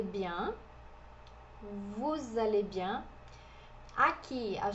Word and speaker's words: bien: Bien. Bien. Esse EN é um som um pouquinho mais nasal, é um som parecido com o nosso som de A com tio.